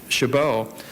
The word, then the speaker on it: Chabot: It troubles me, as one with the surname of Shabbat, or the French pronunciation Chabot, to say this, but